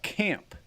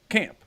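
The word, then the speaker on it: Caam: my body's got a band called camp but they spell it c a a m p so there you go no problem right but like you see it and you you go camp like yeah you know how to say it but like if you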